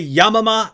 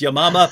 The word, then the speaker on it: Yamama: mentioned, the Battle of, I say Yamama, that she pronounced it correctly, which is Yamama, but as soon as anyone says Battle of Yamama, people can't stop making jokes, so I deliberately mispronounce it to try and avoid that.